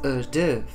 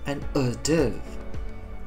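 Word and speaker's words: hors d'oeuvre: you pronounce this one you pronounce it as a div since we are dealing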